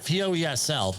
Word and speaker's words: Poesl: Safety Wars, Poesl, Poesl. Not the other way, please. Easy to remember, all right? Poesl, but how do you say it? My favorite word is proposal.